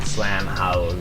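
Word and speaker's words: Slam Haus: But it's spelled H-A-U-S, like the German way. Slam House.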